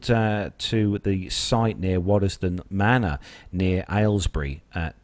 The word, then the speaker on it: Waddesdon: It's sad news indeed of a aircraft and helicopter mid-air crash near Waddesdon. I think that's is that how you pronounce that one? Yeah, that's it. Yeah. Waddesdon, yeah.